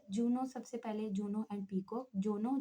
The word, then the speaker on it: paycock: और इसके बरक्स पेको की बात की जाए, वैसे तो इंग्लिश प्रोनाउंसिएशन जो पेको की है वो पीकूक होती है, यानी कि जो बज़ाहिर